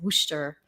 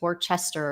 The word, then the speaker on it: Worcester: I guess they pronounce it Worcester, but it Mm. looks like it's pronounced Worcester or something like that.